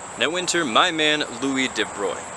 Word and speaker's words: de Broglie: winter my man louis de bruy it's spelled de broglie it's a weird and french name but it's it's pronounced de bruy he won the nobel